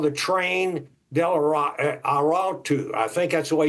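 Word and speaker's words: Tren de Aragua: have has come to our attention called the train Del aru I think that's the way you pronounce it trained araga that's what it is uh and they have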